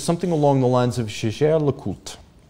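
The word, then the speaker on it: Jaeger-LeCoultre: It is Jaeger LeCoultre, and it is not Jaeger, because Edmond Jaeger fled his home in Alsace-Lorraine during the Franco-Prussian War of 1870. Fleeing the Germans and going to Paris, he would not have pronounced his name Jaeger.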